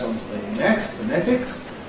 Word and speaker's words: phonetics: onto the ‘net’ /net/, /fəˈnetɪks/. The first syllable, now, people say to me sometimes, “Don’t you say /fəʊˈnetɪks/?”